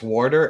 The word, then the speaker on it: water: Okay, it's Warder, and Bob Ross pronounces it the same way, so I've been permanently vindicated.